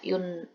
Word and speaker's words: une: Tolong diulang betainnya cara baca yun sama ang itu.